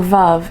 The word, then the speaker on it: Veuve: This is going to be a little history of the Widow Clicquot, aka Veuve Clicquot, or Veuve if you just really have to pronounce it correctly.